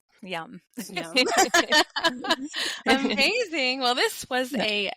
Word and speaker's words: Yam: it's it's y m it looks like yum but you pronounce it yum like yummy and you say it